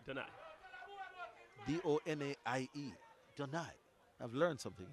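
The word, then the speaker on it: Donaie: Giving Darren Donier something to worry about. Did I pronounce it wrong? Donai. Donai. Yeah. Oh. St. Lucian. Oh, so we can't say Donai. It's Donai. Donai.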